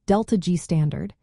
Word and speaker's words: ΔG°: Standard Gibbs free energy change, written as delta degrees, pronounced delta G standard, is a fixed number.